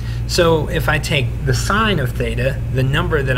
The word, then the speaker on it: sine: we can take the sine of theta i know it's spelled sin but it's pronounced sine we can take the